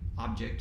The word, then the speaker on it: obj: true if the parameter obj object is how would pronounce it if that parameter and